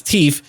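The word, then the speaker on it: teef: And I'll pronounce it as teeth because our currency is made up of teeth. Right up over here. T-E-E-F. Teeth heap. Love it.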